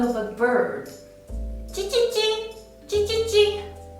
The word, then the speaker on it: j: First one is Ji, Ji. When you pronounce this sound, the first thing you need to do is raising the front part of your tongue and touch the front part of the hard palate. And then let the tongue tip touch the back part of your lower teeth.